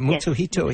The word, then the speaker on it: Mutsuhito: Mutsuhito, yes.